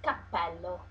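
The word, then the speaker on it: cappello: is called Capell H pay attention to use a double P because um because uh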